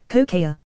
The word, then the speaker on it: Kokea: One of my teachers' name is Mrs. Kokea, yes, pronounced like the drug, and made the first joke about it.